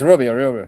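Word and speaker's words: Gúbio: The professor, I say Gubio Suarez Campos. Is that a correct pronunciation? Yes, Rubio.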